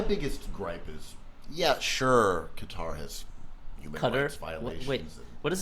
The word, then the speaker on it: Qatar: __ ] and then maybe it rhymes with guitar mm-hmm um there's other